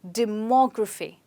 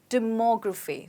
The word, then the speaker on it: demography: have this word well in this word we stress on mo okay so you say it like demography demography so the stress is on more let's try